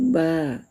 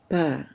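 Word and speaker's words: ب: Kemudian huruf ba. Ba ya. Cara bacanya hanya ee ringan saja, tidak harus ditekan bibirnya. Ya, bacalah dengan bertemung saja bibir atas dan bibir bawah yaitu ba ba ya. Jangan dibaca pa.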